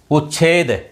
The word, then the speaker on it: उच्छेद: और जो पहले वाला नियम था उस नियम में देखिए आप, शब्द था आपका उच्छेद। उच्छेद उच्छेद च का उच्चारण बोला जा रहा है, उच्छेद उच्छेद।